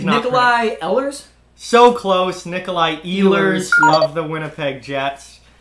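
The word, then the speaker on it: Nikolaj: Nicola Nick Nick nickel lush the collage he's pronouncing the J at the end it's Nikolai nipple yeah no that's a but it's basically an I the Jays mental I elders so close Nikolai Ehlers love the Winnipeg Jets that was definitely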